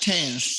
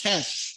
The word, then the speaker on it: tenths: not tens, tenths. It has the Tenth. THS. You I'm see not. the I didn't difference? pronounce it properly. I know it's Yeah, th. tenths. It has the Yes, THS. That's right. yes, After the tenth. decimal, you start putting the THS.